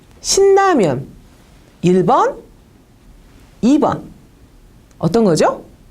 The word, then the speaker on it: 신라면: 한 번은 느하고 르, 즉 신라면이라는 세 개의 그 음절 글자가 있는데 요것들을 연쇄시켜서 신라면 했을 때하고 신라면 했을 때 느하고 르가 만났을 때 한 번은 제가 느느로 발음을 했고요. 한 번은 르르로 발음을 했어요.